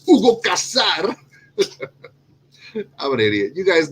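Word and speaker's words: Hugo Cassar: House number one is Hugo Casar, and you gotta say it like that, Hugo Casar.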